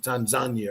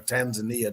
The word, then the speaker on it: Tanzania: son's life, the Maasai tribe of Kenya and Tanzania, or Tanzania, depending on how y'all pronounce it, one of their rites of passages